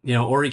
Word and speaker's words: Horry: It's within Horry County. The H is silent for everybody relocating to this area.